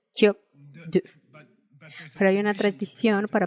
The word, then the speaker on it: skyob 'dod: Pero el segundo, por cierto, una prenasal fuerte tradicionalmente aquí. Repiten. En realidad es kyop-du.